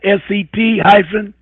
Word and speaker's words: Cestui que: Now they pronounce it Cestui Que. They get SET-A-KAY.